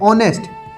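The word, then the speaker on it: honest: अब यहां पर लिखा है ऑनेस्ट। ये होनेस्ट नहीं है गाइस। ये ऑनेस्ट है। एच हमारा जो है वो है साइलेंट।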